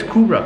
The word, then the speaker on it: Kübra: In London, people used to call me Cobra. So I have to put the accents on so they can pronounce the U. So it's Kubra.